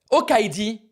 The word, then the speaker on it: Okaidi: And the tagline for their branding on the video, right, was Okaidi, good idea. As in good idea, right? Funny play on words.